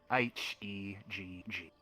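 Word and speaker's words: Hegg: H-E-G-G. Heg. Alright, not Peg. You sound like you say with P.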